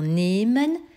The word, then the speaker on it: nehmen: C'est pourquoi nous avons nehmen, N-E-H.